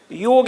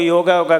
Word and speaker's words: योग: थोड़ा सा मैं योग का, लोग योगा कर रहे हैं, ये प्रोनाउंसिएशन अच्छा नहीं है। इसका वास्तविक जो प्रोनाउंसिएशन है, उच्चारण है, योग है। जैसे राम को रामा नहीं बोल सकते ना, तो योग जो है